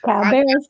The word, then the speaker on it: Cabarrus: Cabarrus County.